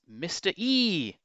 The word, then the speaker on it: Mr. Ee!: at number 21 it's mr e you have to pronounce the e to denote the exclamation mark at the end of the game now this was a